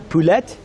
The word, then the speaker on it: poulet: Yeah, you're about poulet and beer. Poulet. See, you're not supposed to pronounce the T's.